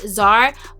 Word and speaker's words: Tzar: have i think it's tsar it's spelled t-z-a-r but one of my subbies told me that it's pronounced czar by royal crown guys